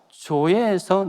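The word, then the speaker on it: ζωή: 조에. Z 발음을 할 때는요, 조 이러면 J이고요, Z 발음은요, 조에.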